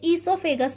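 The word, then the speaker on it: oesophagus: pronunciation पे ध्यान दें, ये जो है यहाँ पर ओ साइलेंट होता है, इसे ईसोफेगस पढ़ा जाता है, एंड इनटू द स्टमक,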